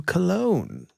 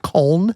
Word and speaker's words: Köln: It inspired me to wear some cologne. Oh, I get it. It's actually pronounced col.